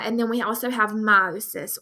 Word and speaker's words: meiosis: then we also have meiosis or meosis as some people pronounce it um cells reproduced